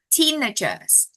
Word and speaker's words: teenagers: Teenager. Oh no, it's actually the first. Teenagers.